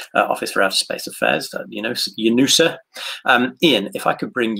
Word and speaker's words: UNOOSA: But since the launch of Sputnik, actually, there has been this small office, and the pronunciation of the acronym is perfect, UNOOSA.